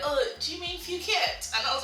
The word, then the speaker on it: Phuket: I would say Phuket. Sorry guys, it was a bit of a... I never heard it pronounced before, so I pronounced it as Phuket outside.